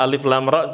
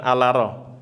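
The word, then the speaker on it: الر: Jadi bacanya jangan gimana kahaya aso enggak alif lam mim bukan alama ya. Apa? Alif lam ro bukan ala ro.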